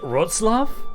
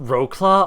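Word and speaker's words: Wrocław: what was it again it's supposed to be like Roots love or something like that and it's not rocla oh God it was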